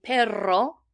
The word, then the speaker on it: perro: And actually, that's how we pronounce double R's, like in perro, which is how we say dog.